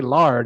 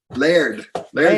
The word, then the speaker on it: Laird: I feel like I always used to say Lard. How do you say it? Laird Hamilton.